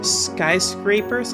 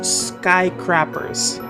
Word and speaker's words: skyscrapers: lot of the time ESO students that is to say English as a second language students tend to pronounce skyscrapers as sky crappers and I never get